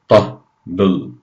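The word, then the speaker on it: طبل: Remember, the ta has a ta sound, so it's tabl, tabl.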